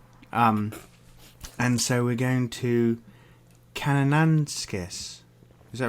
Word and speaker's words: Kananaskis: And so we're going to Kananaskis. Is that right? Kananaskis. I thought it was Kananaskis, like No, banana it's not like skis.